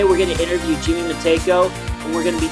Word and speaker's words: Meytko: I grew up with it being pronounced any way you want, and I'm not one of those people that get upset when someone pronounces it wrong, but the correct way is MEYTKO.